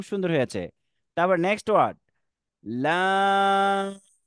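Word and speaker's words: لام: তারপর next word, লাম। লাম একটু টান দিয়ে আমরা লম্বা করে উচ্চারণ করব।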